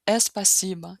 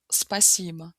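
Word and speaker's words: спасибо: russo, que é spacciba, a tendência é de novo colocar esse som de e é no início e falar espciba, espciba, enquanto em russo pronúncia spacciba. começa com s, sem sons adicionais no início.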